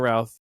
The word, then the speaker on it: Routh: He was like, all right, well, my name's Brandon Routh, rhymes with South, and then he says that ever since he Okay, said that I always think that but.